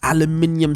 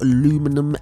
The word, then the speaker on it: aluminium: so let's go with aluminium semi-gloss. Look at that, not aluminum, aluminium. Okay, that's how you say it, Americans.